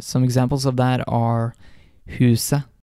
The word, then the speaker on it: huset: When you see the letters ET in Norwegian, the T may be silent. And some examples of that are huset, det, uke.